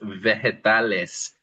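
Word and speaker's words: vegetales: There's two words really, verdas and then the second one is veretales. And notice that the g there is not a hard g, but more like an h.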